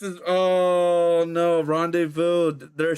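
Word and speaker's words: rendezvous: The Z and the final S are silent. Ah, you Oh, I overthought it. I overthought it. The Z and S is Oh, no. Rende Vu, they're silent.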